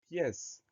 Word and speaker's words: pièce: On pense bien à mettre un accent grave sur le E pour avoir le son E. Pièce, P-I-E accent grave, C-E. Le mot pièce est un nom commun.